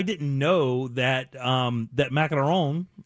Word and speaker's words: macaron: know that um that macaron is that how you say it that is how you say it if you're french yeah yeah but good in america it's macaroons but either way those